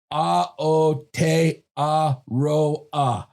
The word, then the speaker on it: Aotearoa: And I got the pronunciation for that. And it is A-H-A-O-H-O-T-E-H Te A-H-A-R-O-H Ro A-H-A. So I think I had it right the first time.